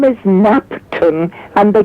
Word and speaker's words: Knapton: KNAPTON, the K is silent like the K in knife.